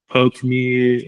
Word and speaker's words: Poke: A lot of people are like, oh, like Pokemon or Pokeme or Yeah. so just again educating the consumer that yeah, it's pronounced Poke.